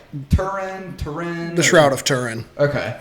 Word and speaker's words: Turin: Because I've heard like Turin. The Shroud of Turin. Okay. Yeah. Well, to be fair, I'm not sure how the Italians say it, but that's how we Americans say it.